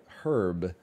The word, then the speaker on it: herb: Like when Americans say herb, they elide the H.